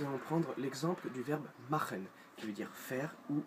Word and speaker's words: machen: Vous voyez, C-H se prononce R. C'est pas machen, c'est machen. Là, bien guttural, machen.